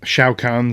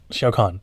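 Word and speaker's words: Shao Kahn: basically it starts with emperor xiao seong um shao khan sorry invading earth and telling our heroes the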